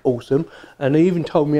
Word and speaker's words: Alxum: was sent to me from a company called awesome and they even told me how to pronounce her name as how they pronounce it awesome so I think they're awesome get more thumbs